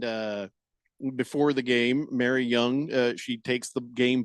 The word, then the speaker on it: Jung: Josh Jung uh is Jung J.H. Yeah. Jung or Young. Jung. You sure? Pretty sure. Josh Jung because the Jun N G might be pronounced young. Uh, no. It is young.